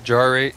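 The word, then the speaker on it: Jarate: It's Jarrate. It is pronounced Jarrate.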